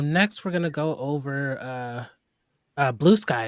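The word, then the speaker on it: Bluesky: Is that how it's pronounced? Blue Sky or Blue Ski? Is it just Blue Blue sky. Sky? It's a funny little joke behind that, but it's definitely blue sky.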